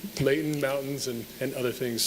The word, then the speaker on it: Layton: And we've truly learned to appreciate Leighton as a little piece of heaven as well, especially when you pronounce it without the T. Leighton, mountains, and and other things.